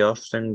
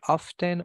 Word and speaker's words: often: one has two pronunciation if you want to mention the letter T that's fine if not that's also fine you can either say often or often in spoken English they